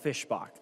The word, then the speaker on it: Fischbach: to tell you it's it is Representative Michelle Fischbach.